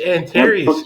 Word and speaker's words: Anterious: It's Antarius.